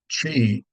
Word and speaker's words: qi: Number one is the idea of chi, and you can spell it either of those ways. So if you pick up a book, you might see it as QI. I know that looks a little bizarre, but chi.